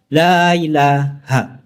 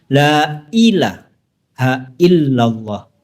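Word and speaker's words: لا إله إلا الله: Sebagian masyarakat kita mengucapkan lailahailah. Ada yanya-nya di sana. Lailah. Padahal seharusnya diucapkan lailahaillallah bukan lailahaillallah. MaaSiral muslimin rahimani warahimakumullah.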